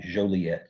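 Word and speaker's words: Jolliet: if you can say you might like Joliet so it it rhymes with Marquette um they this this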